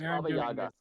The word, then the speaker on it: Baba Yaga: __ ] boy all right John Wick it's bab Yaga and we're not talking about John Wick it's